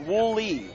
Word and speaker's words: Woolley: The text reads, shout out Luke Woolley and the Beulah boys from NYC, pronounced Woolley. Thought that's how I've been saying it.